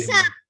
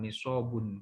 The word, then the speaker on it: nisab: Nisab. Ya, nisab ya. Nisab atau nisab. Tulisannya nisab. Tulisannya nisab. Kalau pakai bahasa Arab nisobun, nisob. Ya, bacanya nisab atau nisob ya.